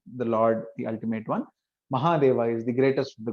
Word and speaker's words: Mahadeva: Some people might pronounce it Mahadeva. It's actually Mahadeva, the great Lord, the greatest of the Lords, you can say.